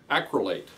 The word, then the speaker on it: acrylate: Acrylate, that's how you pronounce it.